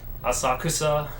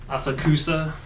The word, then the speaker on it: Asakusa: So many ways to pronounce the name of this place. Asakusa. Asakusa. Freaking English speakers got to put the empasis on one of the syllables.